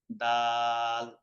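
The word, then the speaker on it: دال: দাল, এই যে এইভাবে লিখতে হয় দাল। এটাকে কি বলে? দাল, দাল। জিহ্বার আগা উপরের দুই দাঁতের গোড়া থেকে উচ্চারণ হবে দাল।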